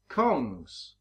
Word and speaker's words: Kongs: Kongs rhymes with bongs.